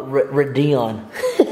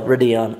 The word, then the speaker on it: Radeon: setting it up I'm gonna name him uh Radion what is that actually used to pronounced no Radeon anyways and then we're just getting everything downloaded